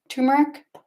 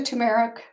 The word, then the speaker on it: turmeric: put two I don't I always say it wrong two tumeric I so turmeric I don't think that's right but you know what